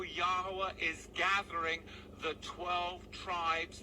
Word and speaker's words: Yahweh: And he said the name wrong. He said Yahuwah, and we know the names of the Lord is Yahweh, Ba'ashem, Yahweh Shai, who the word we call God and Jesus Christ.